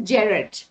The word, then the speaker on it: Gerard: Okay, it is Gerard. Okay, you can say it Gerard, Jared, but not Gerard. It's J definitely. We pronounce G as J, so it's Gerard.